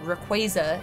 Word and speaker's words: Rayquaza: is the official pronunciation uh and speaking of pronunciation Rayquaza is the official pronunciation of Alex's guy that